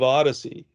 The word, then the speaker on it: OHDSI: fits us well because we pronounce it like the greek odyssey and we always say